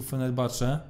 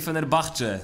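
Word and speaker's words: Fenerbahçe: może nie jest wielkie fener Bach Według mnie to jest drużyna która Pamiętaj że ha się wymawia bo to podobno tak tak podobno taka przywara polskich środowisk piłkarskich że to ch omijają intuicyjnie ostatnio dostałem Zresztą za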